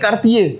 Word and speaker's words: Cartier: Cartier nih bahasanya karti.